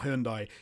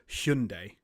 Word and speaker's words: Hyundai: have released an advert saying it's not Hundai it's Hundai Hundai that's just but then